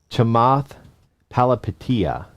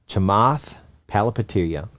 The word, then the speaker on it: Chamath Palihapitiya: How to pronounce his name? Okay, Chamath Palihapitiya. Chamath Palihapitiya, who is an early executive at Facebook.